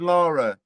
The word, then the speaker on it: Lara: You got two Croft, Laura and Lara. You're welcome, whoever owns that. I pronounce that Lara.